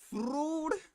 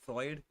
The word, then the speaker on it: Freud: pay is segment fruit. I'm pretty sure that's not how you say his name, but it pisses off Jazuma whenever I say fruit instead of Freud.